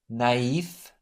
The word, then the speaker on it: naïf: It's used on A, I, and U to indicate that the vowel is to be pronounced separately from the one immediately preceding it. Have a look. Noël, naïf, Saül.